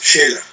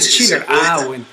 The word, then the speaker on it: Schiller: También decías de Schiller o Scheller, ¿cómo se pronuncia? Max Scheller. El que escribió la cuestión de el texto del canto a la alegría de Beethoven, ese mismo. No sé, Schiller. Es Schiller.